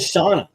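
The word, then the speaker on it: Shanna: sh I've always said shaa I know uh how did you how do you guys say it Shon I pronounce it as quiet Anna sh uh let's see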